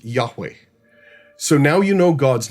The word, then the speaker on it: Yahweh: Today, most scholars agree that it is pronounced Yahweh.